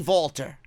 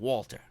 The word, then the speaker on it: Walter: say vaulter instead of Walter because I want to sound I want to sound intelligent vaulter just sounds better even though that's the way it's pronounced over there because he's Austrian and that's the way